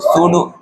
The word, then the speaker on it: pseudo: सूडो force का spelling क्या होता है बताओ? PSEUDO, सूडो, PSEUDO, सही तो सूडो फोर्स।